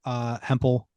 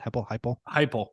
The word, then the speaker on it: Heupel: And unfortunately, like I'm rooting for Hempel, is how you say it? Heupel.